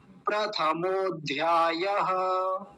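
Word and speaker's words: प्रथमोऽध्यायः: अ क्यों नहीं बोलेंगे तो ये संधि हो रखी है और जब संधि का य नियम होता है ना जहा य एस जैसा बन जाता है एस इसको बोलते है अव्र अव्र जहां भी लग जाता है वहां उसका आकार का लोप हो जाता है छुप जाता है वो उसका उच्चारण नहीं करेंगे तो क्या बोलेंगे प्रथमो अध्याय बनता है पहले हम समझते आधा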